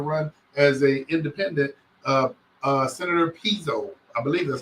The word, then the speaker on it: Pizzo: has chosen to run as an independent, Senator Pizzo. I believe that's how you pronounce his name.